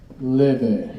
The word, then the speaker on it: Laufey: Leve is how it's pronounced, by the way.